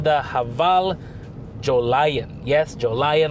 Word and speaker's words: Jolion: haval Joe lion yes Joe lion like I mentioned in the walk around that's how the name of the vehicle is uh pronounced and you know what